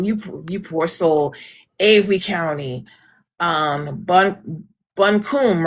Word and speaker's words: Buncombe: Right, and to give you guys an outlook of how long you poor soul, Avery County, Buncombe, right? Is that what it's Bunkum. pronounced?